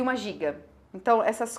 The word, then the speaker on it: Gigue: página vem a Giga, apesar de estar escrito Gigue, nós lemos Giga, que é a última dança da suíte, e acabou a suíte.